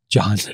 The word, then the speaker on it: Jon: Sax, it's spelled J-O-N, John.